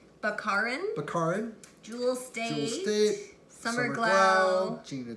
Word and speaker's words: Baccarin: Nathan Fillion, Marina, how do you pronounce her last name? Baccarin.